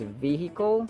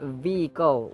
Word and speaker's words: vehicle: either Be pronounced As vehicle where H is sounded or vehicle where H is not sounded so vehicle or vehicle either of the two is correct but in the case